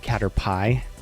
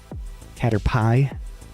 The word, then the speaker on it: Caterpie: A I pronounced it cat pie because it's p i e. Caterpie.